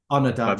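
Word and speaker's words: Ondaatje: merch and Michael on is that how you pronounce his name onad yeah onad the guy the guy that wrote the English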